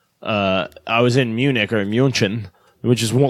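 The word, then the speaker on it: München: they prefer youjin yeah it's it's Munich we call it Munich but in America but Muchin I'm sure I'm saying it with the wrong accent but that's how they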